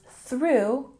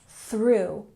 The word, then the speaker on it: through: her book now remember when you pronounce through you're really making the th sound stick your tongue out through through good and boxes